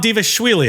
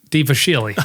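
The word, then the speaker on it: Dvalishvili: Bantamweight Moram Dvaswily. I don't know if that's how you pronounce it, but that's how I pronounce it.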